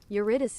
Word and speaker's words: Eurydice: Eurydice.